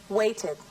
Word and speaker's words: waited: Sin embargo, cuando la última letra del verbo es T o D, como en los verbos want, wait, visit, need, se debe pronunciar ed como última sílaba.